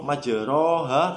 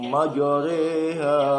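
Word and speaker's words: مَجْرٰىهَا: Cara membacanya tidak lagi dibaca ro majroha, tidak, tapi dibaca imalah. Jadi majoreha di dalam surat Hud ayat 41. Coba saya bacakan. Wa qala arkabu fiha bismillahi majreha wa mursaha inna rabbi laghafurur rahim.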